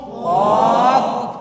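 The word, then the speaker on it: ك: হয়ে যাবে goal of কফ এটা লম্বা আছে না আমাদের মুখটা হয়ে যাবে লম্বা কাফ কাফ এর আওয়াজ হবে পাতলা এর আওয়াজ হবে মোটা এইটাকে যখন আমরা পার্থক্য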